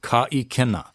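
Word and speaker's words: ka ʻikena: You want to make sure you get that glottal stopping of the sound on ikena, ka ikena. You don't want to say ka ikena, because then you would be dropping the okina, ka ikena, and it might have a different meaning.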